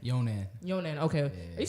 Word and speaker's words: Younan: Younan.